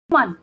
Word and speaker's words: women: वुमन, वुमन को plural, वुमन की spelling WOMAN।